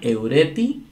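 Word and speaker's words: εὑρέθη: Y aquí está eureti. Eureti con acento en la penúltima.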